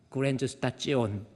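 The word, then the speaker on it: Grenzsituation: 한계상 그랜즈 스타찌오 독일어로 STION는 찌오온으로 발음합니다. 그랜저스타찌온 그랜저스타 찌오낸 뭐예요?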